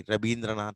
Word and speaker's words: Rabindranath: In Bengali, they say Rabi. That's why Rabindranath Tagore. Okay. Ravi, va they cannot pronounce.